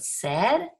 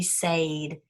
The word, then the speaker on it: said: we have this word said it's a sight word it's breaking rules look at the two vowels go walking the first one does the talking so you would think it'd be sade and the silent eye